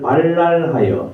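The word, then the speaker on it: בלל: 그래서 주님께서 거기에 온 세상의 말을 발랄하여 뒤섞으셔서 사람들의 그곳 이름을 바벨이라고 한다. 주님께서 거기에서 사람들을 온 땅에 흩으셨다. 이 바벨이라는 곳은 바벨론을 가리키고요. 이 발랄과 바벨의 발음이 비슷해서 오늘날 이것이 바벨이 되었습니다.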